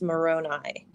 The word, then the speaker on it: Moroni: part of this at one time said it's pronounced moroni but i've never heard captain before that's why